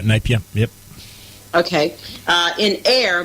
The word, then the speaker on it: Napier: to Napier is that how you say it Napier that's right napia yep okay uh in air but had to